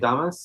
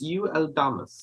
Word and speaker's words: UL Damas: Damas? No, it's UL Damas. UL Damas.